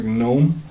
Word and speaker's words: GNOME: Y pueden instalar GNOME, cuya pronunciación correcta es GNOME.